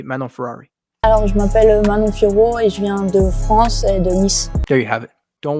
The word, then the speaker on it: Manon: clip here's your answer this is officially how you say meno there you have it